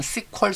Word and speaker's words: SQL: 매니지먼트 스튜디오 ssms 여러분들이 스콜 서버 sql 서버 제 발음할 때는 스퀄 서버 라고 하죠 그게 정식 명칭이 니까 그래서 스퀄 서버 매니지먼트